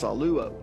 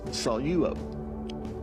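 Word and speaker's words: σαλεύω: So many people will pronounce this saluo. But because there's a dip thong there with epsilon epsilon, you take the lambda and you put it with the first syllable. Okay? So it's salo.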